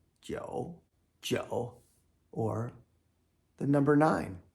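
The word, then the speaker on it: 九: And to the right, Joe. Joe. Or the number nine. The phonetic component. Joe rhymes with Cho.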